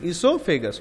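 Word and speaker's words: oesophagus: ध्यान रखना, ईसोफेगस और ईसोफेगस नहीं बोलते, ईसोफेगस, ओ साइलेंट है।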